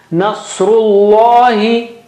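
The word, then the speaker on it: نَصْرُ ٱللَّهِ: Nasrullahi. Saw is very thick and high.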